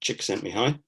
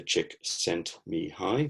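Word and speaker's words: Csikszentmihalyi: sent me high uh if you want to pronounce that i've made it really easy for you because you just break it down into chick sent me high in brackets there um i got the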